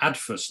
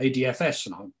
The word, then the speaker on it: ADFS: the acorn talks that they called it adverse not adfs it just sounded completely